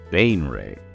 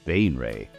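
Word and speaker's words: Baenre: you might want to beware, because this house, Bainray, yes, that's how they're pronounced, Bainray, House Bainray, commands fear and respect, has done so for a long time.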